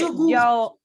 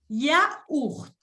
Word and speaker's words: yaourt: Creo que C'est comme un c'est yogourt. yaourt. No sé mucho la pronunciación, ¿sabes? Ok, répète après moi. Yaourt.